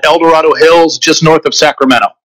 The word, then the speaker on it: El Dorado: You have to put the emphasis on the right syllable, so it's El Dorado down here.